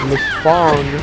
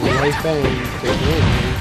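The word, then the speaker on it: Leifang: That's just LaFong or LaFang. She's no longer allowed to be pronounced. LaFang. It's LaFong. Sit.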